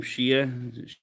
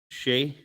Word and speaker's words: Shay: She said everybody thinks her name's Shia. They pronounce her name Shia. Shay.